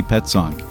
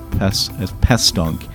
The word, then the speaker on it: Petzonk: episode, which features Annie Petzonk of the Environmental Defense Fund, whose name I, for some odd reason, often mispronounce as Pestonk.